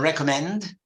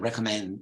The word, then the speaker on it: recommend: her girl okay then recommend you have two M's in English that you just pronounced one I can recommend recommend not recommend okay